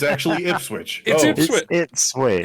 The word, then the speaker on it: Ipswich: be pronounced ipswitch it's ipswitch oh it's actually ipswitch it switch it's actually is it switch unbelievably that's yeah unbelievably it is actually said how it's spelled it's the only town